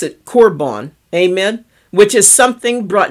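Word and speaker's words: קרבן: different in Hebrew and it's called well they pronounce it corbon amen which is something brought near to to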